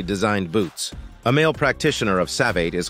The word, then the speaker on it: savate: savat French pronunciation savat also known as French